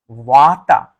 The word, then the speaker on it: Vata: the queen of doshas Vata water v-a-t-a first a is a long a second a is a short a so what what in